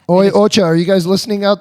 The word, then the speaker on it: Oi Ocha: and it helps me relax how do you pronounce the name of the company it's it's it's oi Ocha o Ocha are you guys listening out there you going